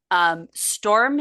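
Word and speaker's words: Stormé: It's Storm with an E over a hyphen, but I looked at the pronunciation and it's just Storm.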